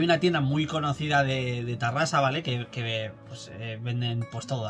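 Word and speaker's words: Terrassa: Cuidado con esta, Cuidado con esta, y es que el ayuntamiento de Tarrasa, por cierto, mal escrito, que Tarrasa se escribe con E, es Terrasa, pero se pronuncia Tarrasa, estudia poner una calle a Akira Toriyama.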